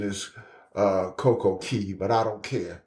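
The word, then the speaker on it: CocoCay: want to ask you this you stopped that Coco K it's been uh about a year and a half since I've been to to I I know the correct pronunciation is uh CoCo Key but I don't care it's Coco K yeah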